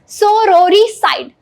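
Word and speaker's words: sororicide: सोरोरिसाइड, आप इसके तलफ्फुज पे भी ध्यान दीजिएगा, that is very important, that is pronunciation. Pronunciation है इसका सोरोरिसाइड।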